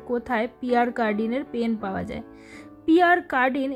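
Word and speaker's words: Pierre Cardin: খুঁজে বেড়াচ্ছি যে কোথায় পিয়ার কার্ডিনের পেন পাওয়া যায় পিয়ার কার্ডিন এই কথাটা ফ্রেঞ্চ ভাষায় উচ্চারণটা কিন্তু বেশ অন্যরকম পিয়া ক্যাডো কাঁদো কি যে বলছি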